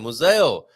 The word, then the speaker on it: museu: As we learned how to say it with a Z sound, Museo, there in Aveiro district.